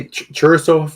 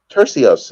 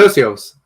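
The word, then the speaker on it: Turcios: We got Ricky Churasov. Oh man, I'm so bad at pronouncing names. We know that. Ricky, how would you pronounce that, Oscar? Tercios. It's pretty easy. Tercios.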